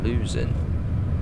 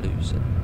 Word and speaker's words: Luzern: It's pronounced Luzern. Hey, then, Jonathan. Luzern.